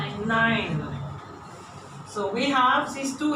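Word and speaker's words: nein: And I don't want to hear name, yeah? Because you have the tendency from English to say name. So I am now stressing it. This combination of letters is a I.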